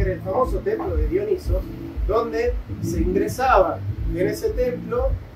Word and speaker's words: Dionisos: el dios de la disciplina no el cambio dionisos porque no se pronuncia Dionisio todo el mundo dice Dionisio Dionisio es un nombre griego pero el Dios se llama dionisos y dionisos es el dios de la locura